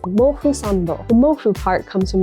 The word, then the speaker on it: Mofusand: In Japanese, it's pronounced Mofusando.